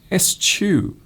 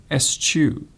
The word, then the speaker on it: eschew: said, eschew, but actually you pronounce it exactly as it is written, eschew, eschew, and it means to push away.